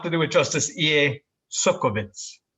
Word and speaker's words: Csolkovits: it justice ea suckabits you nailed it that's perfect in fact if i ever forget how to say it do you mind if i call you and ask you so that's it sulkivitz is the key yeah the the first